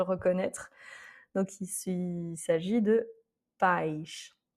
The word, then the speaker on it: pais: Donc il s'agit de pais. Pais, donc l'accent est sur le A, parce qu'on est dans